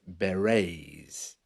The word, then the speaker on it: beret: were called the red beret b r r e TS you know the Beret is a type of hats where the t is silent they were basically peacekeepers